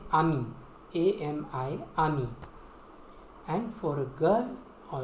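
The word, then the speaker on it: amie: A-M-I, ami. And for a girl or a lady, you will say ami. A-M-I-E, ami. The same pronunciation, but you will add an E at the end.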